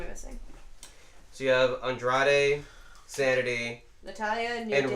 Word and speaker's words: Andrade: Andre. I went through my Andrade? version. Yeah, I missed a syllable in there.